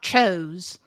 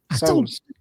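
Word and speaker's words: Tso's: General So's Cho's, chicken. yeah, General So's, yeah, Cho, whatever, yeah. Oh, Spicy chicken. Like from It's Seinfeld. TSO. It's not Cho's. So's.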